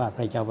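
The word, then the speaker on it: พะเยา: ประโยชน์ ทั้ง ไฟ บ้าน เมือง ของ อ่าน ว่า พะ เยา วะ ส่ง เอา ทำ งาน ตรง นี้ ตรง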